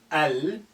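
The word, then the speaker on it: المشط: Mim is a moon letter. Al-mishtu.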